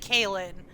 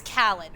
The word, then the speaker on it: Callan: Is it Kalen or Callan? Because I realized I said Kalen. Okay, so it's Callan.